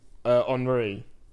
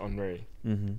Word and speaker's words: Henry: Henri. Like Thierry Henry. Oh, nice. Yeah, nice. So it says Henry, but you have to pronounce it Henri for it to be accurate.